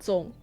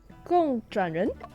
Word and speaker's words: 共: Not 总. Gong. It was 共.